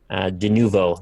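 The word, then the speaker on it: Denuvo: De Nuvo, that's how you say it.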